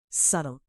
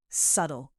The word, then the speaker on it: subtle: Subtle. Now be careful with pronunciation here. It's not subtle. The B is silent. It's subtle.